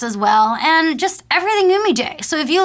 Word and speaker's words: Humillé: like ABC of Humillé, is how do you pronounce our name? And I'm already saying it's Humillé.